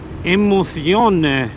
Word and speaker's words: Emozione: Aber ich habe es natürlich in der Einleitung natürlich falsch ausgesprochen. Das muss natürlich heißen Emozione on Tour.